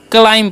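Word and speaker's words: climb: ठीक है बी जो है यहां पर साइलेंट होता है इस बात का आपको ध्यान रखना है क्या पढ़ना है क्लाइम पढ़ना है ओके बी साइलेंस होता है अब देखिए क्लाइम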